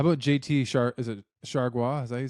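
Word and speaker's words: Chargois: about him how about JT sh is it Shaga is that you say his name yeah Shaga I played with him in Minnesota he's nasty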